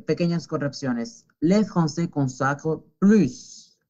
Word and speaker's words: plus: Les Français consacrent plus. La S se pronuncia porque significa más.